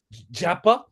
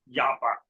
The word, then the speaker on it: Jhyappa: Japa. Japa.